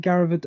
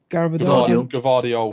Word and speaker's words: Gvardiol: So when they swapped, is it Garaved? I can't say his name. Gvardiol.